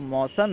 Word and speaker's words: موسم: یوں کہہ سکتے ہیں کہ برسات کا جو موسم ہے، اسے موسم اور موسم، کیونکہ عام طور پر موسم کہا جاتا ہے اس لیے آپ موسم بھی کہہ سکتے ہیں، لیکن جو درست تلفظ ہے وہ ہے موسم.